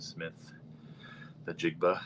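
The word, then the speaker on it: Smith-Njigba: I'm going to take JSN, Jackson Smith, the Jigba. Is that how you say that? I pronounce that right?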